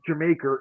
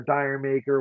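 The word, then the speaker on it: D'yer Mak'er: that for me uh it's not Jamaica Jamaica or Dyer maker whatever you want to pronounce it um it's not that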